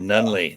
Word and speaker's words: Nunneley: did yes you did nunley that's it oh good good i had to google it yeah it's it's swedish so that so the pronunciation is is might be a little weird with the spelling and all that outstanding outstanding so michael